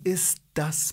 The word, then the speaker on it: ist das: Te tak jakby nie wymawiał. Wie ist das Passwort? Wie ist das Passwort? Ist das, to jest tak sklejone razem, że nie mówię tego te po prostu.